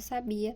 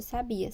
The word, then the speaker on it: sabia: Sabiá fugiu da gaiola a sílabas que formam cada uma das palavras destacadas são pronunciadas com maior menor intensidade sábia e Sabiá a sílaba em destaque em cada um dos exemplos é pronunciada com a maior força em relação às outras é nela que recai